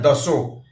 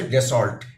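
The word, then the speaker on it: Dassault: France की company है दसो दसो फ्रेंच में बोलते हैं इंडिया में जो स्पेलिंग के हिसाब से डिसॉल्ट डिसॉल्ट एिएशंस जो बड़े-बड़े एिएशंस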